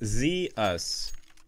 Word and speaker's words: Zeus: It's Zeus. Like, okay, it's Zeus. Okay, so there you go. Like, this is pretty cool. I'm learning more about Greek gods while playing Counter-Strike. I gotta give it to you guys. Heads up, man. Best community ever. Zeus. So that's how you pronounce it.